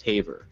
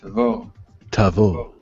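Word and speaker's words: Tavor: pronounce the name of this futuristic looking Bullpup Taver but it's actually pronounced T Tavo people usually pronounce the name of this legendary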